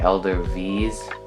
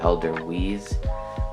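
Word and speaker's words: Edelweiss: or that's switzerland sorry they pronounce their w's as a v so it's like elder v's but we pronounce it elder wheeze but anyway this is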